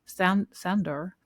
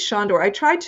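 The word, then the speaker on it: Sándor: Juilliard and the legendary George Sandor. Am I pronouncing I mean, I think it's Shandor.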